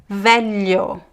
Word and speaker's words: velho: The lh is pronounced more or less like l e It's trickier, but you have to just practice. Julho velho filha l l You kind of have to touch the tongue on your the top of your mouth and slide it.